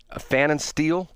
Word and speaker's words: Pfannenstiel: I'll take a guess at the P is silent. Pfannenstiel?